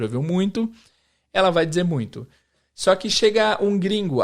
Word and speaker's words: muito: o E aí como que ele vai pronunciar essa palavra ele vai para não ser muito muito é muito porque que ele vai para anunciar muito ao invés de muito porque esse som de m depois do i não tá